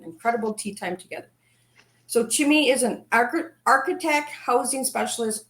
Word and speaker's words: Chima: Chima. I wasn't sure if it was Chima or Chimi.